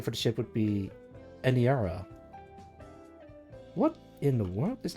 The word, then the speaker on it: Aniara: Anira? No, Aniara.